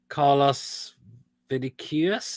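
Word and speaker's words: Carlos Vinícius: follow there's the news that fulham have signed call us vidiques that's how we pronounce this name from benfica good move for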